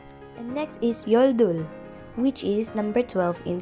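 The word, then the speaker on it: 열둘: 10 and number one and next is yoldul which is number 12 in korean again your duel is 12.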